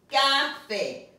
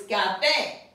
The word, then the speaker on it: café: Without the accent, it would be café. But that's not the way you pronounce it. It's café.